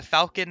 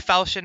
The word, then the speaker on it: falchion: Or some people pronounce it the falcon knife. It's a falchion knife, okay?